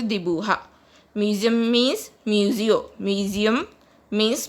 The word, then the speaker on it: dibuja: Draw means dibuja. Draw means dibuja in Spanish. J is pronounced as H in Spanish, so it is pronounced as dibuja.